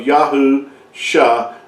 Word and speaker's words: Yahusha: It's not Shua, it's Yasha. And it means salvation or deliverance. So when you see that when you put those two together, you come with the pronunciation of Yahusha, Yahu, revealing that salvation